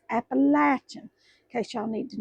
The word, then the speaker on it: Appalachian: And it's Appalachia, not Appalachian, it's Appalachin in case y'all need to know how to pronounce that.